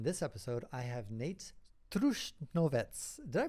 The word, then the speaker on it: Trušnovec: In this episode, I have Nejc Trušnovec. Did I pronounce that right, Nejc? Yeah, it's Trušnovec, quite right.